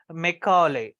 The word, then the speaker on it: Macaulay: the screen Lord TB Macaulay the the very pronounce his name is Macaulay right so he was a person who introduced